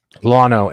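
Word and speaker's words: Lono: Lotto? Lano, L-O-N-O, Lano.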